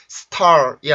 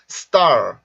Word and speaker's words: star: 그래서 소리가 star이 아니라 star, star, star, star, star, star.